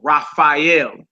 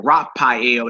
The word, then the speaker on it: Raphael: you hear the angel Raphael Raphael this is the second letter in his name you know what I'm saying so instead of saying rapel they say rafhael and it looks like